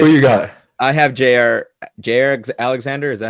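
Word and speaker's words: Jaire: I have Jair Alexander. Is that how you say it? Jair, yeah, correct.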